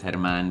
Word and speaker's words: Germán: My name's Spanish, so it's Germán, but it's spelled German TV. It's just German TV if you look up German TV, but it's Germán TV. So I don't want to be called German.